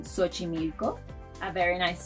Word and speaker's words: Xochimilco: It may sound like an S, as in Xochimilco, a very nice sound south of Mexico City.